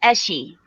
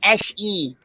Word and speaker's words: Eshi: this is Eshi. Hi, Esh. No, Eshi. I was waiting for that. I was like, no, you got to pronounce the E at the end.